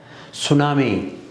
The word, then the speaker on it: tsunami: Tsunami, so T is silent, and honest, H is silent, psychology, and P is silent.